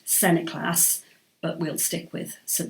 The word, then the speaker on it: St Nicholas: this is where John St Nicholas supposedly pronounced Senate class but we'll stick with